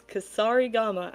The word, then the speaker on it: kusarigama: It's Kusarigama.